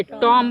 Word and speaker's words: tomb: TOMB क्या पढ़ेंगे? टॉम पढ़ेंगे। क्या पढ़ेंगे? क्या साइलेंट हुआ? बी।